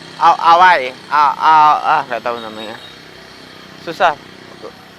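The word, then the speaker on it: áo dài: Tapi ngomongnya bukan Aodai, Awai.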